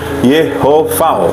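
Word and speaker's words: יהוה: Kemudian kata kedua, nah ini sama seperti sebelumnya ya, bacanya Yahweh, pelafalannya Yehovah ya.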